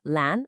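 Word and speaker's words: 蓝: That's lan, a rising second tone, and su, a falling fourth tone, then our essential particle, and finally the noun basa.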